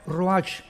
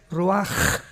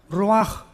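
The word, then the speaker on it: רוח: h, que se pronuncia roach, pero en el hebreo es roaj. La ch en el hebreo es como J. Roaj, que significa espíritu.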